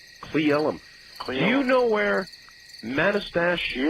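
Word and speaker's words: Manastash: Do you know where Manastach? Yeah, it's pronounced Manastach.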